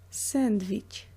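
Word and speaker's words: сэндвич: Sandwich. Sandwich. Make sure that here you pronounce V, not W, as in the English word. It's just V.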